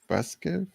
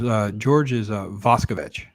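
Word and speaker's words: Voskovec: Marshall, Jack Klugman, Edward Binns, Jack Warden, Joseph Sweeney, Ed Begley, George Vasquez. Can't pronounce that one. Robert Weber. Yeah, oh, so George is Vaskovich. Vaskovich, thanks.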